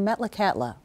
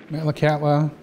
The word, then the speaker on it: Metlakatla: Metlakatla is the anglicized pronunciation of a Tsimshian word, Metlakatla, which means saltwater channel where the wind dies down.